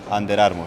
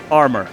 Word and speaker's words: Under Armour: Under Armour. Uf, aquí tenemos para mejorar. Under Under Armour. Armour. Bien, mejor, mucho mejor. Sí. En inglés, las R's se pronuncian desde aquí. Como que estás tragando la R.